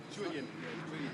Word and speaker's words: Julien: Julian. It's not an A, it's not an A, it's an E. Julian. Julian? It's wrong. Julian.